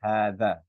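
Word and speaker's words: هذا: And hadha is always there's actually an alif that's embedded there. So the right way to say it is actually hadha.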